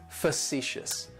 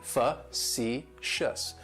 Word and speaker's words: facetious: Facetious has 3 syllables and the stress is on that second syllable. It's like you're just saying the letter C, fa-ci-shus. And that first syllable has that schwa, that sound, facetious, facetious.